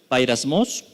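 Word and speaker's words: πειρασμός: Y es que tentaciones es la palabra G3986 que se pronuncia bairasmos.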